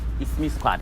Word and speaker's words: IXME Squad: The channel is called IXME Squad, but I think it's pronounced It's Me. you're welcome to my channel, It's Me Squad.